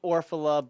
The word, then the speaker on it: Orfalea: It's actually Orfalea, but Orfalea. Orfalea, Orfalea. It's basically the one pronunciation that it is, or the one that looks like it's least correct is actually the correct one.